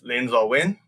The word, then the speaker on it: Linn Zaw Win: know me or who don't know how to pronounce my name my name is lindsay wynn and i'm my main focus is working on